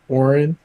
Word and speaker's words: Orin: Like Orin, Like an aura.